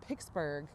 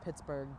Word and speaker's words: Pittsburgh: Pittsburgh we hear a lot of people say pixburgh but I don't I don't know that I've